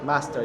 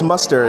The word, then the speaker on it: muster: Master, yeah. Oh, Master? Okay. Isn't it muster? Master. Oh, yeah, master. How do you pronounce Oh, it's muster.